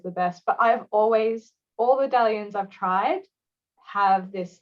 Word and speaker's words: Dailuaine: I mean, I couldn't pronounce it for the first 6 months. Well, there's a sneaky little I in there, isn't there? Yeah, I know. I used to call it the Dailuaine whiskey.